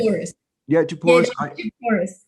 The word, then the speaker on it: Djapouras: Yeah, Djapouras. Djapouras. The D silent way.